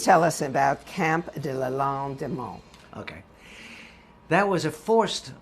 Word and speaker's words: Lalande-des-Monts: It was Camp, I'm going to spell it. Camp, D-E, new word, L-A, new word, L-A-N-D-E, new word, D-E, new word, M-O-N-T-S. Yeah, Mons is the city it's near. Camp de Lalande-des-Monts.